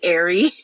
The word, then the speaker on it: Eyre: Well, you know, Charlotte Bronte named her that because the last, like Eyre, and especially the way that a British person would pronounce it, is supposed to sound like ear, and it was because